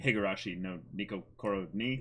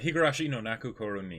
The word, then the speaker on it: Higurashi no Naku Koro ni: Higurashi no Nico Koro ni? Did I say it right? Higurashi no Naku Koro ni. Naku Koro ni. Yeah, I think that's how It's said.